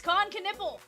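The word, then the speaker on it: Knueppel: Looking for some uh Con Canipple. I looked up his name. It's Coniple.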